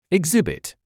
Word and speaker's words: exhibit: The H at the beginning of this word is silent.